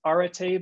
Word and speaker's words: Arete: group called rit initiative it's pronounced arete but it's spelled a-r-e-t-e the initiative is really